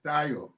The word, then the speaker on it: Taryor: The name is Taryor. Taryor, thank you. I appreciate correcting me. I am also not happy when somebody pronounces my name very wrong. So thank you for that correction.